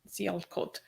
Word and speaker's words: Sialkot: So on the day of the murder, December 3rd, he said, the horrific vigilante attack in Sialkot, is that how you say it, Ali? Sialkot.